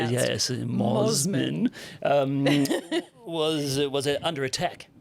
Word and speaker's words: Mosman: pizza shop in the well healed suburb of Mosman. Is that how it's pronounced? Yes. Moman um was was under attack under attack from